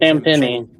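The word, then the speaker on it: Champagnie: How do you pronounce that guy's name? Champagne.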